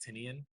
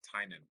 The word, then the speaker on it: Tynan: it uh written by James tinian oh sorry Tynan I believe that's how he pronounces it um if you don't